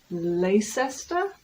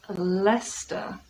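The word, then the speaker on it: Leicester: Are we just literally removing three letters from existence?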